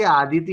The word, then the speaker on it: आदिति: अदिति है कि आदिति है बेटा वो? आपका कैसे प्रोनाउंस करते हैं आप? डबल ए है ना? डबल ए है मतलब आदिति है।